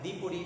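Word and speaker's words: the: অপরটা হচ্ছে ভাওয়াল, অর্থাৎ পরবর্তী শব্দের প্রথম অক্ষর যদি ভাওয়াল হয় তখন দি এর উচ্চারণ হবে দি, আর দি এর পরবর্তী শব্দের প্রথম অক্ষর যদি কনসোনেন্ট হয় তাহলে দি এর উচ্চারণ হবে দা।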